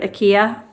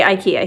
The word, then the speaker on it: IKEA: There's probably lots of different ways to say it. Um I've heard IKEA um or IKA IKEA. I don't know. Anyways, we say IKEA here. That's how everybody that I know pronounces it.